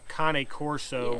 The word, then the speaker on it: Cane Corso: dogs people all these corsos pronounced a coney corso were amazing they had